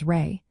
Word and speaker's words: Ra: For example, Aman Hodep's name includes Rey, the sun god, pronounced as Rey.